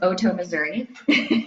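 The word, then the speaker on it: Otoe-Missouria: that by the way my tribe is pronounced Oto Missouri Oto OTE looks like a toe um but usually a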